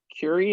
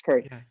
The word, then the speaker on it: curry: cook with with with curie am i saying it right well first of all no you're not saying it right it's curry uh well is it possible